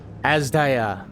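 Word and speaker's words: Azdaja: What have you done to Ashdaya? Asdaya.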